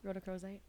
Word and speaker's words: rhodochrosite: c h r o s i t e rhodocrosite okay there you go that's what I what